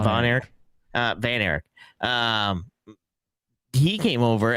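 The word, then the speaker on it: Von Erich: Van Eric rather than Von Eric?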